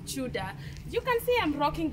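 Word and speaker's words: Tudor: It's written as T-U-D-O-R, Chudor. Chudor. But it's pronounced as Chuda.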